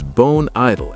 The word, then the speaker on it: bone idle: Now, notice how I link the final consonant sound in bone to the vowel sound at the beginning of idle. Bone idle. Bone idol.